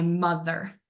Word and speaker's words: mother: I can hear myself when I say mother. Mother. That beginning part of m is that stressed. And then we quickly say, and that's going to be what that schwa sound is.